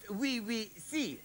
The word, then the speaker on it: Oui Si: And it's pronounced we see, I see there.